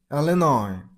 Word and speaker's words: Illinois: So there is a s at the very end of the word, but you shouldn't make the s sound. It's pronunciation is linoi. Elinoi. Elinoi.